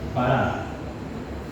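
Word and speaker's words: ברא: Así como digamos nosotros para, pero con B grande y con acento en la segunda A, bará.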